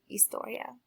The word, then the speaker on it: historia: so what is laass Historia if you said history class you are correct and notice that I am not saying hisor I'm saying laor so in Spanish the H is silent okay and answer the